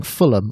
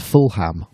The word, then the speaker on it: Fulham: way by the way for saying Fulham and not Fulham which is a very easy thing to do because of the pronunciation of uh the way that Americans pronounce words so I I I'm